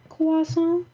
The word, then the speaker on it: croissant: jimmy but um carl carl wieser knows how to say it right he says croissant which i love i love that he says it right kwasa jimmy's mom jimmy kuhn